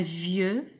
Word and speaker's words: vieux: Un vieux, I-E-U se prononce ieux, X ne se prononce pas.